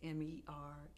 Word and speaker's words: Merkerson: When you go to IMDb, it's Merkerson, so people always pronounce my name wrong. It's Epatha, and it's Merkerson. It's Merkerson, and people say Merkerson, they say Merkerson, but that I blame